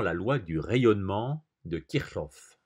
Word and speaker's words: Kirchhoff: Présentons maintenant la loi du rayonnement de Kirchhoff. C'est comme ça que ça se prononce apparemment, c'est un nom allemand.